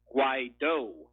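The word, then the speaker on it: Guaidó: Forgive me for being pedantic, but it's actually the surname is actually pronounced Guaido, with the emphasis on the O.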